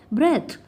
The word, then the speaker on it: breath: अब ध्यान से सुनिए, BREATH को हम प्रोनाउंस करते हैं ब्रेथ, थ साउंड होती है, जबकि BREATHE इसको हम बोलते हैं ब्रीद, द साउंड होती है।